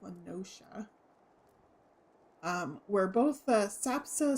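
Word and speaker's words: La Noscea: I always think it's Lenasia, but no, it's pronounced Lenoshia.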